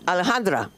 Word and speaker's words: Alejandra: I think it's too crazy when I say her name because everybody's calling her Alex, but it's Alejandra. And so I have a totally New Jersey accent until it comes to Alejandra.